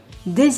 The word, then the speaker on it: des: Note that in front of a vowel or a silent H, des is pronounced des.